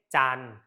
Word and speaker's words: จันทร์: ไม่ ออก เสียง เช่น จันทร์ จะ ไม่ ออก เสียง ทร เหตุ ไม่ ออก เสียง